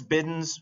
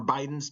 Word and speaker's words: Bidens: And then the one over there, all the way on the far side, that's Bidens or Bidens, depending on how you want to pronounce it.